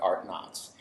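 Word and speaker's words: Artnauts: called art knots and it's spelled just like astronauts but art knots and so the idea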